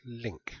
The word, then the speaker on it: LINQ: this is going to look at link which is a data manipulation language it's spelled l i NQ um and it's designed